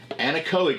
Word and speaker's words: Anechoic: Anechoic is how you say that.